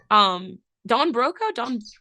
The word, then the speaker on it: Don Broco: Don Broco? I feel like that's the only way to pronounce it.